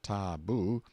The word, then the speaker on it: tabu: concealed themselves in hiding places till the tabu pronounced taboo, means prohibition, we have borrowed it, or sacred. The tabu was sometimes permanent, sometimes temporary, and the person